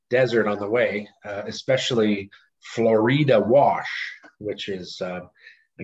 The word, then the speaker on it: Florida: deserts some sonoran desert on the way especially florida wash which is uh i guess florida it's spelt like florida but it's pronounced florida and it it just basically means full of